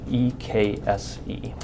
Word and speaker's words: Ekse: Tamara Jones, and Bill Ekse, E-K-S-E. How do you pronounce it?